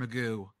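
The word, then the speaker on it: McGough: game though was Mr Magoo fiu's own Mr Magoo I started calling him Mr magooch I think that's funnier it's pronounced Magoo it's mcg-o-u-g-h magooch is funnier so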